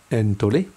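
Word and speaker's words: ἐντολή: Entolé comme ici, entolé, ok, qui se prononce entolé, ok.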